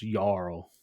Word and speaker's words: Jarl: I got like 6 comments being like, dude, it's a soft J. I think it's pronounced Jarl.